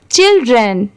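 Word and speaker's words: children: पढ़ेंगे चिल्ड्रन ठीक है यहां पर चाइल्ड की साउंड नहीं आ रही है सी एच आई आई एल चिल हो गया और डी आर इ N drain हो गया चिल्ड्रन ठीक है इसे ऐसे प्रोनाउंस करेंगे तो हर जगह सेम नहीं होता स्पेलिंग सेम रहेगा बट प्रोनाउंसिएशन में थोड़ा डिफरेंस रहता ही है अगर आप मेरे साथ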